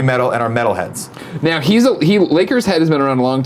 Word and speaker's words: Lakers Head: You say Laker Shed. It's Lakers Head. I love the Lakers, so I'm a Lakers Head.